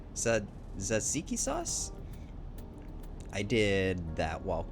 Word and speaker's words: tzatziki: It's pronounced tzatziki.